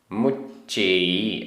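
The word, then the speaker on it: मुच्चइ: बजदी बजदी विर विर मुच्चेई आधा च पूरा च मुच्चई विवि कमेह कमेह आधा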